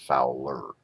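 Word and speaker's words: FOWLR: need to put R it's just Fowler foul R it's a a typo for the sake of pronunciation and you have a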